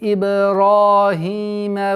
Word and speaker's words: Ибрахима: Здесь мы применяем правило калкаля ба. Иб. Ра. Удлинение в размере двух огласовок. Ра. Твердое произношение фатха. Ибрахима. А потом после твердого ра. Хима. Удлинение в размере двух огласовок касры. Хима. Ибрахима.